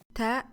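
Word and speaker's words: tāʾ: Ta is the third letter in the Arabic alphabet. It is pronounced like the first T in the word teeth.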